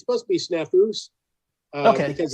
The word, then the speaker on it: Snafus: it's supposed to be snafus okay because it's supposed to be plural but it's a made-up